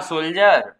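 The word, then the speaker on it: soldier: बघायचा चालेल ना हा सोल्जर सोल्जर स्पेलिंग बघून घ्या याच्यामध्ये डी पण आलेले आहे पण डी काय त्याच्यामध्ये सायलेंट आहे एस ओ एल डी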